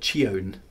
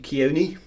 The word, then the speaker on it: Chione: Chione is an interesting one, because most people would pronounce it Chione to start with. But it's actually Chione. It's all based on ancient Greek myth, and there's a reason